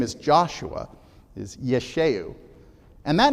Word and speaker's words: Yeshua: in okay it's pronounced it's this and that's pronounced Yeshua his name is Yeshua if you were to